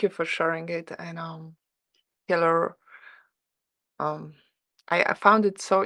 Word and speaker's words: Kielyr: Kielyr, yep. Kielyr. Oh my God, I didn't pronounce it then.